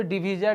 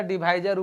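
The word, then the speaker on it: divisor: और डिवीजर डिवाइजर pronunciation है, जिस प्रकार से आप लोग मोनालिसा या मोनालिसा नहीं समझ बात की पढ़ते हैं ना।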